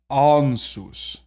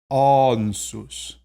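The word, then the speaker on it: Ansuz: Ansus. Ansus is the next one. Not ansus, but rather ansus. It's that back A.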